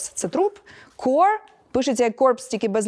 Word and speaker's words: corps: як Marine Core Cor от питання Чому оцій PS не вимовляються ко не зро Ну насправді Зрозуміло Тому що це слово тому що це слово французького походження і там половину літер просто можете Ну типу ігнорувати ось тому infantry -